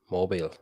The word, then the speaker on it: Mobile: Mobile.